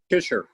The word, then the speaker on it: Teuscher: Teuscher. Teuscher? Yeah, it's pronounced like T-I-S-H. Teuscher.